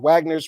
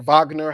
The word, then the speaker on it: Wagner: individual cases and about Wagner's recruitment of foreign Nationals absolutely crazy that Wagner or Vagner however you want to pronounce it would go to